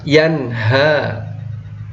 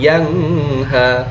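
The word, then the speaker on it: يَنْهَى: perhatian ditandai yang merah yanha Nun jelas yanha bukan yang ha tidak seperti itu karena dia nun sukun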